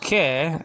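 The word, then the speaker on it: καί: Greek word kai, nowadays pronounced ke.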